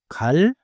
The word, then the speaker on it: 갈: 갈 칼 깔 I think I hear it.